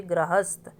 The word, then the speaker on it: गृहस्थ: आप इसको प्रोनाउंस करके गृहस्थ, र के बाद अ की साउंड होती है तो वो पदेन रूप होता है। लेकिन यहाँ में हमारी साउंड है गृहस्थ, गृहस्थ जीवन, तो री की साउंड के लिए हमें ऋषि